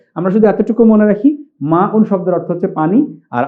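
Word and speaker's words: ماء: পানিকে আরবিতে বলা হয় মা উন এই যে মা উন এটি আইন নয় হামজা আমরা মাউন বলবো আচ্ছা মাতে একটু আলিফ আছে দেখে আমি এখানে একটু আইফেন দিয়েছি বাংলা উচ্চারণ মানে মাউন শব্দের অর্থ হচ্ছে পানি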